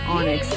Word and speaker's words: Onyx: Well, I was pronouncing it Oinks because years and years ago, William told me it was Oinks. Apparently, I shouldn't have trusted him because it's Onyx.